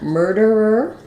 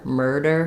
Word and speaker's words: murder: so work on murder murder first this D is going to be a light flap so keep it light murder not murder not a strong stop of air murderer so this is